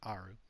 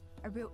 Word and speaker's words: Aaru: Okay, so it's pronounced Aaru, not Aru.